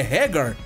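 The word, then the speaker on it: Haggar: sobre a pronúncia dos nomes dos personagens a pronúncia que seria seria mais correta para hagar é hagar e do Gui seria Gai porém eu chamo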